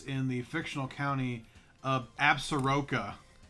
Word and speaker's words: Absaroka: Yes, Longmire takes place in the fictional county of Absaroka Right. And in Wyoming. in Wyoming, and we actually pronounce it Absorka here.